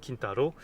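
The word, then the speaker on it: 金太郎: Kintaro, plus précisément dans sa prononciation japonaise.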